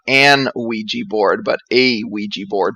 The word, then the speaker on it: Ouija: but I would argue that it's not an ouija board but a Ouija board based on the way we pronounce it in English in a way that